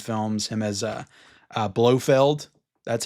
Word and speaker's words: Blofeld: him as uh, uh, Blofeld. That's how you pronounce it, right, guys? Everybody was correcting me in my Bond review. It's blow. It's blowoff feld. Cannot blow field.